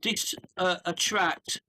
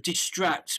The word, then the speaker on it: distract: So not dis attract me, but distract me. It was a slightly wrong, so distract.